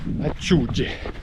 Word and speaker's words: acciughe: Du poulpe, les célèbres anchois salés de Monterosso, prononcé acciugge, et un dessert tarte au citron, terrible.